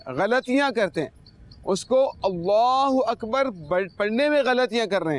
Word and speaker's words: اللہ اکبر: اللہ اکبر ہوتا ہے, اس کا تلفظ جو درست ہے وہ ہے اللہ اکبر.